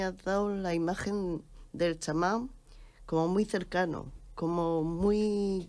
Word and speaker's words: chamán: En cambio, chamanismo suena, pero el tema es que si somos puristas, el chamán o el shamán, como deberíamos pronunciarlo correctamente, para empezar no es un término autóctono americano.